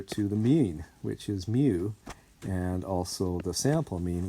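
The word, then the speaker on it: μ: actually a greek letter it's the 12th letter in the greek alphabet and it's pronounced mu like that and it's the simulate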